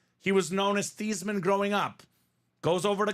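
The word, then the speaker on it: Theismann: Theisman Grandpa Theisman uh there were theeman excuse me they were pronounced the thasan family right he was known as thieman growing up goes over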